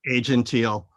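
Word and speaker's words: Aegean Teal: Moore's color of the year is am I pronouncing it right? Asian teal? Asian teal.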